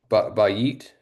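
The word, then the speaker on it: בית: So for a house, and is it pronounced bayit?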